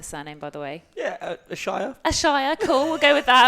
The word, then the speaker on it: Ashayer: Yeah, Ashayer.